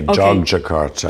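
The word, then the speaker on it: Yogyakarta: do you say this it's actually uh it's pronounced like a j j Jakarta J Jakarta prin I don't know why they chose that spelling cuz it's it's confusing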